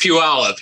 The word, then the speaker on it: Puyallup: to say the the town name can you pronounce that for me it's pure olive yeah don't worry about that at all yeah okay phenomenal so dennis started tariff in real estate in puyallup washington in 2017 and in just three years